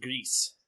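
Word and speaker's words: Gris: It's pronounced Grease.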